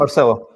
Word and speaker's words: Marcelo: Now, first up, did I pronounce it correctly, Marcelo, or is it Marcello? Marcelo. Yeah. No, yeah, Marcelo.